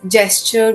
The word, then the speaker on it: JSTOR: name and pronunciation is gesture which is basically English word gesture g e s t